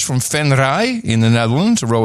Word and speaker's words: Venray: Then we have Danielle Luipers from Venray in the Netherlands, a row of ducks, 222.22.